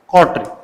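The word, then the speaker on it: coterie: उसके लिए सबसे वर्ड है कोट्री, कोट्री, इसका प्रोनाउंसिएशन होगा कोट्री।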